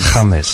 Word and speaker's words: James: I mean, it's spelt James, but yes, pronounced James. James.